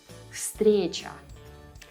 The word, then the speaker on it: встреча: The voiced V here is right before a voiceless S. So V also turns into a voiceless F to make it easier to pronounce the word. It would be difficult to say всё, встреча, right?